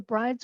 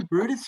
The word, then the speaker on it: Bryde's: And yeah, nobody knows how to pronounce except that it's sort of et tu brutus, but it's not spelled b-r-u-t-u-s.